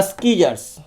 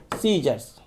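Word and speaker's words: scissors: हम पढ़ते हैं स्कीजर्स, तो लोग पढ़ते हैं सीजर्स। स्कीजर्स क्यों पढ़े? ताकि स्पेलिंग अच्छा से लिखे, लेकिन इसे बोला जाता है कैसे? सीजर्स।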